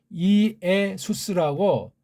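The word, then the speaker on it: Ἰησοῦς: 자, 그런 면에서 우리가 지금 한글엔 예수에서 하는데 이게 정확한 헬라 발음은 이에수스라고 이자랑 예자는 갈라야 되잖아요.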